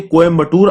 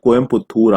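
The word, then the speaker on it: கோயம்புத்தூர்: आप इस शब्द के वर्डिंग्स को देखिए, ये कोयम्बटूर आपको ज्यादा लॉजिकल लग रहा है या कोयम्पुत्थूर आपको ज्यादा लॉजिकल लग रहा है? तमिलनाडु गवर्नमेंट का बोलना है कि ये जो कोयम्पुत्थूर है, this is the right spelling, this is the right pronunciation, जो कि इंग्लिश में गलत हो जाता है।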